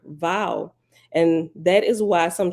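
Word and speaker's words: Vav: as any English letter but it's closest to a cross between V and W if you put your two Center most top teeth two inches below your bottom lip inside your mouth you say vowel you will notice that the V comes out as a sort of mix between V and W that mix is the actual sound of the Hebrew letter vowel and that is why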